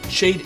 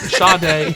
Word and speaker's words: Sade: It's not Shade, it is Sade.